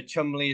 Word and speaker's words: Cholmondeley: So Chumley is like an old English surname that looks like it should be pronounced Cholmondeley.